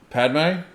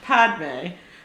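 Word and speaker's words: Padmé: mixed messages, and she's Padme, and she's like, "Anakin, we can't talk anymore," and he's like, "Okay." But no, that was... You're adding syllables to her name. Padme. It's Padme.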